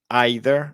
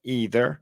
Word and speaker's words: either: es que Recuerden que hay personas que dicen either hay otras que dicen either hay unas que dicen neither y neither las dos pronunciaciones son aceptadas las dos son comunes y las dos son